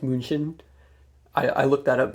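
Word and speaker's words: München: are originated from munich or in german it's pronounced moonshin i i looked that up because you can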